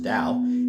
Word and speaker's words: Tao: flow with it the Dao in taoism spelled t-a-o but pronounced Dao is the way the